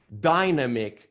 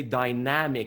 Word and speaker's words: dynamic: was always saying like dynamic but i went i wanted to say dynamic something dynamic right and just like oh you don't say it like dinosaur you say they try